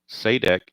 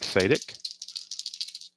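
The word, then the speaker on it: Sadek: Randy Jones back out, and he'll be facing Spire, Saydek, and McLaughlin. I think it's pronounced Saydek or Sayt or Sadik. I'm I'm assuming it's Saydek, like Pat Sajak.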